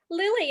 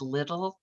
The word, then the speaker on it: Lille: And sometimes there's confusion around my name. People look at my name and they think it's little, or like Lil is short for like little Diane.